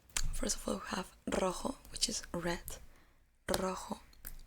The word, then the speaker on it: rojo: First of all, we have rojo, which is red. Rojo, rojo. In Spanish, you have to practice a lot the R, because we have like different pronunciations.